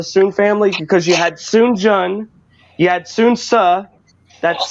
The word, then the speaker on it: Sun Jian: Three Kingdoms era, but he was related to Sun Jian. It's spelled S-U-N space J-I-A-N. Sun Jian.